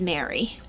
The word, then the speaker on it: Mari: cardigan by mary chiba i always want to say mari when it's spelled m-a-r-i but i guess it is mary it depends i've heard mari as well okay mario chiba